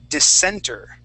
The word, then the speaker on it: dissenter: words for you okay the first word is dissenter yeah the center okay um so it's a